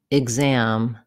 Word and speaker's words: exam: X says gz, as in exam, exist, executive.